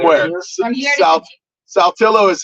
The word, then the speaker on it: Saltillo: Is it Saltillo or Saltillo? Saltillo.